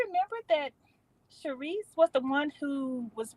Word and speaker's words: Charrisse: We do recognize that those profiles, just because you turned the S into a Z, it's still pronounced Charisse.